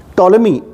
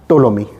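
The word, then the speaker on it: Ptolemy: के दरबार में आया टोलमी इसमें पीस साइलेंट है इसको टोलमी पढ़ते हैं टोलमी किसी के दरबार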